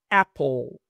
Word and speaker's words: apple: Apple. Apple. Apple. La e no se pronuncia, es silenciosa y la l quedaría con la p y la ll Apple.